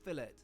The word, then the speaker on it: fillet: me a medium cooked fillet yes we pronounce it that way in the UK before I get any filet corrections to close we really